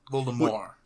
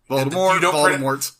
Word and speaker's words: Voldemort: Voldemort. Voldemort. Technically, you don't pronounce the last T.